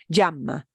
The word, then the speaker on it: llama: in Buenos Aires, Argentina, if you're in Argentina, that word is pronounced llama. That's pretty strong. And if you said, como se llama, it's going to sound very Argentine.